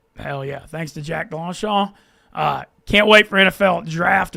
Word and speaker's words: DeLongchamps: I always DeLongchamp. How do you say it? DeLongchamp. There's a little bit of NOLA there in my back pocket.